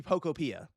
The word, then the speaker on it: Pokopia: That seems to be how it's said. It's a little thing, but I was saying Pokopia. No, it seems to be Pokopia. That's how they pronounce it here.